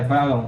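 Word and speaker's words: Baron: Acho que a pronúncia é Alexandre Barron, então. Isso, é Barron, Alexandre Barron.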